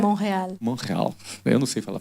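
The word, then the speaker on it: Montréal: é Montreal, como é que como é que pronuncia? Montreal. Como é que é? Monreal.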